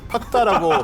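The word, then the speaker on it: PAK DA: PAKDA라고 쓰는데 팍다? 팍다라고 발음이 되겠죠.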